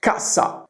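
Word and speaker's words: cassa: However, if I double up the s kasa, kasa is a box.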